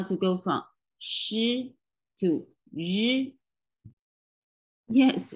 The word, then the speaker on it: ri: They are a pair, a voiceless and voice pair. The first one is voiceless, the second one is voice. Let's feel the difference of the onset of the syllables. Shi. The vocal cords are not vibrating at the beginning. Yi. The vocal cords are vibrating at the very beginning.